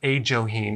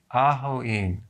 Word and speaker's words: ajoene: right so is it it's not a joking it's ah Hawaii okay well that's the